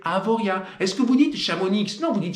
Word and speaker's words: Chamonix: On ne prononce pas le Z, on ne prononce pas le X à la fin des toponymes et des patronymes savoyards ou aux savoyards.